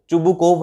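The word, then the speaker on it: Chubukov: एंड व्हाई डिड he visit to चुबुकोव, मतलब चुबुकोव, चुबुकोव है इसका करेक्ट प्रोनाउंसिएशन।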